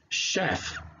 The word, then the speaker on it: chef: If we read it together, it sounds like chef.